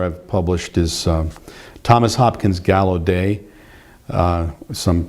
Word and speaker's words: Gallaudet: Another author I've published is Thomas Hopkins Gallaudet. Some pronounce it Gallaudet.